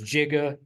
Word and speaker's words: giga: to the 9th and we talk about Giga some people say it's jiga I don't care how you pronounce it um it represents